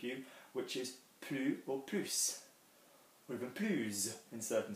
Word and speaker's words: plus: for some of you which is blue or puse with a blues in certain situations so this